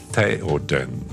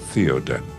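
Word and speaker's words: Théoden: It is Theoden, not Theoden.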